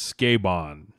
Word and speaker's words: Sukeban: Zach saving us with the pronunciation. It is Sukeban.